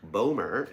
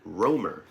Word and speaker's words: Rohmer: It is not Eric Bomer, it is Eric Romer.